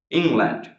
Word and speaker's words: England: England, first syllable here, right? England.